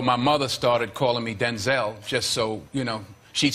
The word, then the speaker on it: Denzel: It's Denzel Washington!